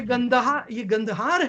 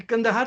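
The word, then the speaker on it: کندهار: इसको आप भंबोर कहें, तक्षशिला कहें, मोहनजोदारो कहें, लाहौर कहें, पेशावर कहें, कंदहार तक, ये गंदहार है, ये कंदहार तो मिस प्रोनाउंसिएशन है, ये सारा एरिया बुद्धिस्ट और हिंदू होता था।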